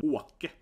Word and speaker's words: Åke: So he spelled it Ake, but it makes no sense. So his name is supposed to be Åke, right? The Åke, to move. Åka, it's like traveling. But yeah, it's a typical, I took it here, typical Scandinavian Å, right?